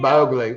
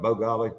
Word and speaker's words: Mowgli: Mowgli. Keeping it real. Mowgli. Remember when we called him? We thought it was Bogali.